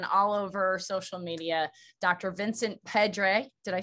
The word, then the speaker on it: Vincent Pedre: Vincent Pedre.